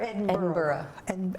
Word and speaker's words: Edinburgh: First Edinburgh or Edinburgh? Edinburgh. Even You though it's swallow spelled, even though it's spelled B-U-R-G-H. Yeah, you say it.